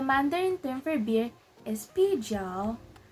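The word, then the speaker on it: 啤酒: So as you can see, the first syllable is 啤, 啤. It has the second tone, so we're gonna sound like we're asking a question. So it sounds like 啤, 啤. And the next syllable is 酒, 酒, 酒. So as you can see, it has the third tone. So we're gonna sound like our throat is going downwards as well.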